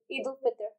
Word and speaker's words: Eid al-Fitr: How do you pronounce it? Eid al-Fitr.